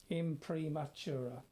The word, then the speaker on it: Imprimatura: Nothing like this particular style of painting, by the way, is called an Imprimatura, spelt as it's pronounced, Imprimatura.